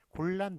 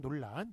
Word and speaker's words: 곤란: 자, 난 같은 경우에도 난이라고 읽는 게 원래 맞아요. 그래서 가난 이렇게 읽는 게 맞습니다만 곤란, 논란 이런 식으로 란이라고 예, 잘못 읽는 것을 뒤에서 이제 맞게 한 예가 되겠습니다.